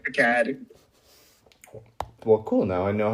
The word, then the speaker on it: Picahd: It's actually Picahd or Picahd for the French speakers.